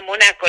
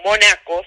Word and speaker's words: Monaco: Y en una cancha de tenis conoce a quien iba a ser su marido, Luis Bernardo Estrada, Monaco le decían, sin acento en la O, Monaco, sin acento en la O.